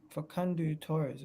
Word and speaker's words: Facundo Torres: How do you pronounce his name? Facundo Torres. Facundo Torres.